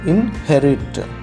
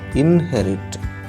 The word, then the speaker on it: inherit: right inherit means right inherit look at the pronunciation also inherit okay so here second syllable is stressed inherit inherit inherit okay so